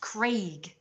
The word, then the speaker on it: Craig: Craig is pronounced Craig. It's spelled C-R-A-I-G. Craig. A-I is pronounced A. If it was Craigslist, it would be C-R-E-G. That's Craig. And what is it?